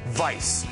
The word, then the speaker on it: Weisz: Rachel Vice yes that's how you say it Vice it's not we or wise or Weiss or stop or Franklin it's Vice uh she's smart and